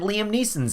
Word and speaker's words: Liam Neeson: And hey, it's got a young Robbie Coltrane and Liam Neeson's in it, so go and check that out.